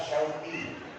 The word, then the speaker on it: Syauqi: Contoh, nama saya yang diberikan orang tua saya adalah Syauqi. Syauq menggunakan huruf shin yang artinya kerinduan.